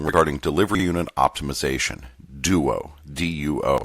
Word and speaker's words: DUO: This section includes the Memorandums of Understanding regarding Delivery Unit Optimization, DUO, D-U-O. I'll pronounce it DUO if it comes up again.